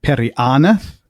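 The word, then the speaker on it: Periannath: And then Perianath, again, because it goes on the second last because of the double N. The double N, right? The long consonant. Perianath.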